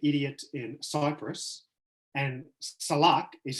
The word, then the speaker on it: salak: And Salak is how you say it in Turkey.